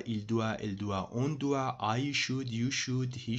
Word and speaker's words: doit: All three of them are pronounced doit. But the only difference is in written form, the third one has T at the end instead of S.